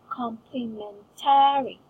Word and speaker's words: complementary: For example, complementary. And the stress in this word is complementary. Is ta. Complementary. complementary, There. Because I put emphasis on ta.